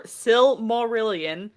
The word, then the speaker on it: Silmarillion: the book the similar silmarillion for those of you who have a hard time pronouncing it uh it is the sil it's based off of the silmarils so the silmarillion is